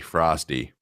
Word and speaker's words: Froste: Anyway, and not to be confused with the delicious treat from Wendy's, it's spelled Froste, Frosty.